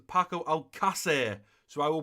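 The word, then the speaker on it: Paco Alcácer: though I've been called and packable seesaw it's pronounced paco al qussair so I will pronounce it as long as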